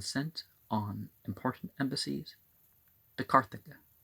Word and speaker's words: Carthage: on important embassies to Carthage. You don't pronounce that G with a J sound.